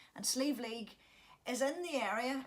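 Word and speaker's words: Sliabh Liag: It's written in the Irish, but it's pronounced Sleeve League. And Sleeve League is in the area.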